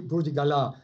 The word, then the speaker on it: Burdigala: It's a French name. So in that case, it has to be Burdigala.